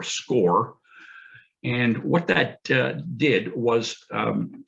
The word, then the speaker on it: SCCORE: So CCO came up with a program that we call, it's spelled SCCORE, or SCORE.